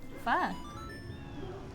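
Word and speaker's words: phở: Pho, cilantro, and you're like pho is really good. Your what? Pho, like the Vietnamese noodle soup.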